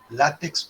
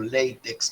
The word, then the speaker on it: LaTeX: Están hechos con esta herramienta que he puesto ahí en pantalla, que se llama LaTeX o LaTeX, como la quieran pronunciar. Ambas pronunciaciones son válidas, y que es un lenguaje de descripción de documentos.